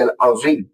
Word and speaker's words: العظیم: ادا کر رہا ہو، کیونکہ سبحان ربی العظیم کے اندر جو ضا آئی ہے اس کی آواز ذال اور زا سے ملتی جلتی ہے، اور اگر کوئی ان